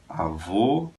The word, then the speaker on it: avô: Avó, avô.